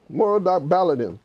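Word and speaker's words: Merodach-Baladan: that time more doc let me just pronounce it's a difficult word it's a babylonian word moro doc balor baladin moral doc baladin was the son of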